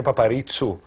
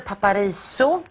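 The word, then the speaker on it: Παπαρίζου: Και έχει και μια διαφορετική, το όνομα σου έχει διαφορετική, είναι Παπαρίτσου. Ναι, επειδή στη Σουηδία δεν... προφέρουν το ζήτα, δηλαδή όταν θέλουμε να πούμε ζέμπρα, λένε σίαμπρα. Και επειδή έχουν, ήθελα να πούνε Παπαρίσου ή Παπαρίτσου. Ναι. Όπως θέλουν.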